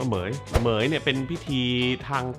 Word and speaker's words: เหมรฺย: อ่าน ว่า อะไร วะ ตอน แรก ผม ก็ พยายาม แบบ อ่าน อยู่ แบบ เหม ห เห เหม รุน เหม รุย เหย นะ ครับ มัน อ่าน ว่า เหมย เหมย เนี่ย เป็น พิธี